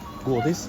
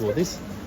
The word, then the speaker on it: godis: Did I say it right? Godis? Yeah, that's Godis. good for you. Should my O be longer? Like godis? A little Hold on, I'll pay. How do you say it? Godis.